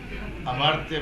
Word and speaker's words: अमर्त्य: वाला बंदा, economist, doctor अमर्त्य Sen, Nobel laureate. हाँ हाँ भाई, अमर्त्य सेन भाई, हम हिंदी में भाई उधर अमर्त्य बोलते हैं, आप उसको अमूर्त्य प्रोनाउंस करते हैं। इट्स a Sanskrit word.